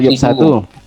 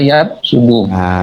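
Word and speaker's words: يفسد: Itu apa yafsudu atau yafsadu? Banyak dalam Al-Quran ini. Fasada yafsudu. Kalau afsada yufsidu artinya merusak. Tapi kalau fasada yafsudu berarti rusak.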